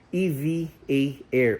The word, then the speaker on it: EVA Air: namin ni Pixar is EV. A air ulit. Yan ang tamang pronunciation na hindi Eva air, hindi Eva Air kung hindi EVA Air.